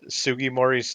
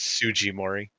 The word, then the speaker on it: Sugimori: i was a kid whenever i saw sugi mori's name because i wasn't fully aware of japanese yet i always pronounced it as tsujimori thunderstorms i don't